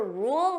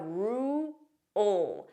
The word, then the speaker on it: rule: Notice here there are two sounds. We have rule, so that dark L, rule, rule. So if I pronounce this fully, you hear those two sounds, rule. In a more unstressed pronunciation, it won't be as obvious, rule, ool. It's there, but it's very quick, rule, rule.